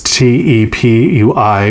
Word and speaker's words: tepui: Some indigenous groups call these tablelands Tepui, I think is how you say it. I probably murdered it. It's Tepui, which means house of the gods.